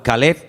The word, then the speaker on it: Caleb: Para diferenciar el nombre del perro se pronuncia diferente, pero se escribe igual. Caleb es para el hombre, para un hombre propio.